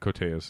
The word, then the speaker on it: Koteas: With ELIAS KOTEAS. Yes. Or KOTEAS. I don't know how you say his name. No, I think KOTEAS is correct.